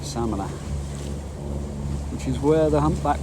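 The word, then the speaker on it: Samaná: I think they pronounce it Samana, which is where the humpback whales come to have their babies, according to my daughter.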